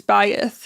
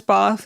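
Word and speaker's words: Ba'ath: Bath is bayth in Arabic, but we know it as Bath. It's spelled B Apostrophe A T H in English.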